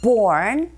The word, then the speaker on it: born: Now try the second listening point, that is, born and raised here. 자, 본 아니고 R이 들어가 있기 때문에 born. R 소리 발음하실 때 혀가 어디에도 닿지 않게 조심하시고요.